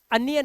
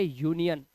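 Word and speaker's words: union: कैसे, यू के बाद एन और एन के बाद कोई कॉन्सोनेंट नहीं है बल्कि एक वाउल रखा है आए, इसलिए इसका उच्चारण अनियन नहीं, इसे पढ़ेंगे यूनियन।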